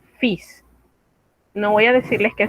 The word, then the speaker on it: fils: Fis es una pequeña excepción. En realidad no es posible explicar por qué se pronuncia diferente a lo que las reglas dicen. Aquí, en vez de omitir la S, omitimos la L, fils.